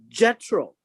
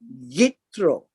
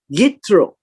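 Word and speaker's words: יתרו: Now, we are now in chapter 18, and it begins with a discussion with Jethro. Jethro is pronounced Yitro, right? Y-I-T-T-H-R-O. Yitro.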